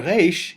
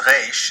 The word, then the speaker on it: resh: If either of these pronunciations is too challenging for you, you are welcome to resort to pronouncing this letter like the letter R in English. The Hebrew letter Resh is kind of like